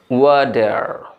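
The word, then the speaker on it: water: সেটা হচ্ছে এই ওয়াটার শব্দটিকে আপনি এটাও উচ্চারণ করতে পারেন। খেয়াল করে শুনবেন এখন কি বলছি। ওয়াডার, ওয়াডার, ও অন্তস্থ একার ডয়াকার ওয়াডার।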